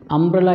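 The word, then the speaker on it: umbrella: ഇവിടെ നോക്കൂ, അംബ്രല എന്ന് പറയുന്ന പദം, അതിൻ്റെ ഉച്ചാരണം ശരിക്ക് അം എന്നാണല്ലോ. അം എന്ന് തുടങ്ങുന്നത് കൊണ്ട് അത് മലയാളത്തിലെ സ്വരമായതുകൊണ്ട് അത് വവൽ സൗണ്ടാണ്.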